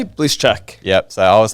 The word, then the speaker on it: Blyszacak: Blyszacak. Yep. So I was saying Blyszacak for years, so apologies.